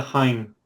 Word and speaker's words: hein: It's Well, there's no H sound, and I almost heard it with Mike's.